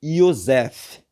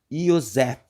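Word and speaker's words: Yosef: Não, o nome dele é Iosef. Vamos pronunciar junto? Iosef. Porque não existe a letra J no hebraico.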